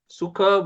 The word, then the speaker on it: sukha: Sukha word is made with two syllables, su and kha.